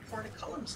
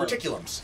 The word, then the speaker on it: porticulum: because I based the pronunciation on the word portcullis, which Yeah, I that's kind of what- thought it was No, it's based on. port, as in teleport.